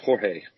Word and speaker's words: Jorge: uh george mosby doll it's not george jorge yeah so but everybody calls them george because it's spelled like that but it's weird in